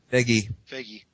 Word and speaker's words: Feige: How do you pronounce his name? Feige.